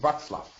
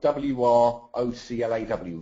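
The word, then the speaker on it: Wrocław: I'm in Poland, John, in a place called Wroclaw, which is spelled W-R-O-C-L-A-W, Wroclaw.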